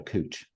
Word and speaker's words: couch: if you're making board called a cooch you know and it's spelled couch you know so they